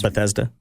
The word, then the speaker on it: Bethesda: Um Bezia Software is Bethesda.